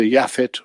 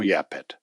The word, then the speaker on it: Japheth: For in Hebrew itself with the same letters, one can pronounce either Yafit or Yapet.